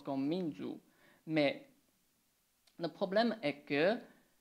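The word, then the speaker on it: 民族: Donc, minzoku, un caractère, c'est comme ça. Et puis, on utilise aussi les mêmes deux caractères, mais on prononce d'une façon différente. On prononce comme minzu.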